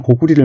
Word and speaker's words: 고구리: 근데 원래 발음은 고구리입니다. 고구리, 부리 이렇게. 그래서 가끔가다 또 고구리 또는 고구려를 혼용해서 쓰니 여러분들 오해 없기를 바랍니다.